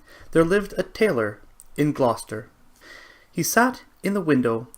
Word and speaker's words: Gloucester: the tailor of Gloucester forgive me if sometimes during the story i might say gloss chester best way I've always pronounced it before being corrected but it is indeed Gloucester and I will try